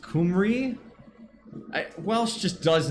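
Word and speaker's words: Cymru: I thought it was Kimu. It's pronounced Kumri.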